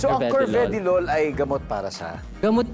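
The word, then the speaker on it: carvedilol: Actually, it is pronounced as Cvedilol. Curved LOLol. Yes. For everyone's din pong um information, it's Curvedy Lol ay gamot para siya.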